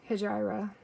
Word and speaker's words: Hejira: And I think in Canada they pronounce it differently than they do in the US as well. So I say Hejira.